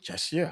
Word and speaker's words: Czechia: Is it Czechia? How do you even pronounce it? check, yeah. Czechia.